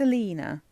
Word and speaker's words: Alina: I just want to make sure I pronounce this right. Yeah, it's Alina.